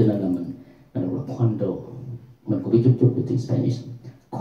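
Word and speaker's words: Cuando: Thì nó đọc là như chữ quan, cho nên là mình đọc là Quando.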